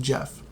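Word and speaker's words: Gef: So it's spelled G-E-F, but it's pronounced Jeff.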